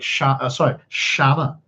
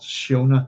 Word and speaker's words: Siona: Or like Shanna is how you would pronounce that. Believe it or not, it's not Shiona. Shanna is how it would pronounce, like Shannon.